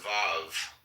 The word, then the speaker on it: Vav: Comment on V pronounced Vav transcribed as V or U.